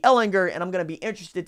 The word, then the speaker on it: Ehlinger: there all the time in hard G Ehlinger and I'm gonna be